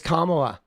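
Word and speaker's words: Kamala: Dude, how can they like Nobody can pronounce her name, bro. It's Kamla.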